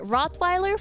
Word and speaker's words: Rottweiler: Rottweiler for dogs is Rottweiler. Uh, you just you're basically taking the English word and you're pronouncing it with a more Norwegian pronunciation.